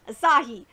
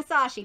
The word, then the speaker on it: Asahi: between arena and Asahi yes I'm saying it right Asahi because I know I was getting some shit I was saying esashi but it's Asahi yeah turns out I